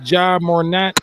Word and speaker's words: Ja Morant: The Grizzlies, Ja Morant. That's how you pronounce the name.